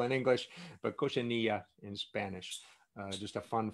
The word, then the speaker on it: cochinilla: So it's cochineal in English, it's cochinilla in Spanish, but cochineal in Spanish means filthy, not cochineal bug. So it's cochineal in English, but cochinilla in Spanish.